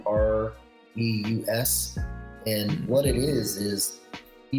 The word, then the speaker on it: AuREUS: I think his name was Carey, begins with an M, but he discovered the Aurus, I think it's pronounced. It's Aureus.